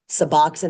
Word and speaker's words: Suboxone: um and then suboxin suboxin is the big one now looks like Suboxone but it's pronounced suboxin It's a combination of